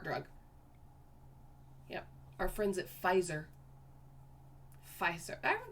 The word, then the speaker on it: Pfizer: friends at pfizer pfizer that spelled so weird i hate that i hate the the f that's made by the p and the f i don't like that so silent p because you don't even need the p right right so the